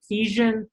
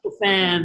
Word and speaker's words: Epiphan: Let's try to, some people are also asking about using other tools like Ephesian. I can never pronounce that. Is that Epiphan? Yeah. Epiphan.